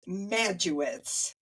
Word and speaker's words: Majewicz: Today, I am highlighting Majewicz. Did I say it right? Close. Majewicz. Majewicz.